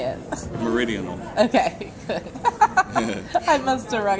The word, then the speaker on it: Meridian: wikipedia that's true how do you say it meridian okay i must have run it to my